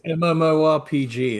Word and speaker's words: MMORPG: Am I pronouncing that? MMORG? It's MMORPG.